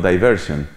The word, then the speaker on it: diversion: De pronto te encuentras un letrero, que obviamente en inglés se pronuncia distinto, ¿no? Diversion.